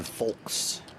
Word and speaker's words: folks: Please stop pronouncing the L in folks.